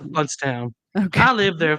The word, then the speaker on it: Blountstown: It's Bluntstown, pronounced Bluntstown.